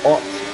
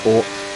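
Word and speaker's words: Haute: Mirabal Hot, sorry, because you don't pronounce the H. Or Ort.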